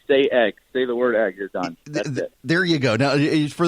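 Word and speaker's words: Sayegh: morning thanks to YouTube genetically pronounced day egg there you go now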